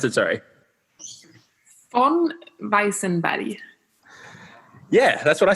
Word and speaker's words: Weissenberg: Sweden but Isabel von Weisenberger how do you pronounce it sorry on bison body yeah that's what I said you would never